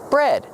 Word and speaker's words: bred: Breed in the present, in the past, bred. Pronunciation, use a short eh like head and red. Bread, just like the bread you eat, but it's spelled differently.